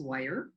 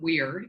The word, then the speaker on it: Weir: I'm going to just point out that our name is Weiher. No. It's not Weir, although it's spelled Weir. It's Weiher.